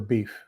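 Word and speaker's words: биф: You now know the Russian word for beef. What's that? Beef. Beef? Beef? But it's spelled B-I-F.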